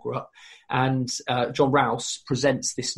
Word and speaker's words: Rous: it who is john is it rouse um there are problems with some of the early sources aren't there yeah yeah correct pronunciation john rouse is a monk who